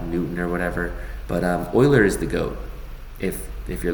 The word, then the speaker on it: Euler: And this guy here, his name is pronounced like Euler. even though it looks like Euler, but it's not Euler, it's Euler.